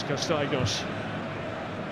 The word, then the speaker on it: Castaignos: French surname, but the Dutch pronunciation of that surname is Castaignos.